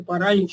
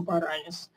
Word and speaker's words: паралич: Значит, действительно, паралич как-то должен объясняться, чем-то должно объясняться, что произносится паралич, а не паралис.